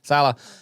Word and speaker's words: Saleh: Saleh.